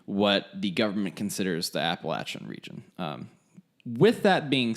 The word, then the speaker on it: Appalachia: There's no Y. People will know that you're not from here. There's not a Y. There's not an S at the end. Appalachia. It's just Appalachia.